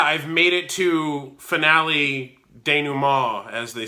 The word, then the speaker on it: denouement: But yeah, I've made it to finale denouement, as they say, which I used to pronounce as denouement because I'd never heard the word spoken before. I'd only seen it written.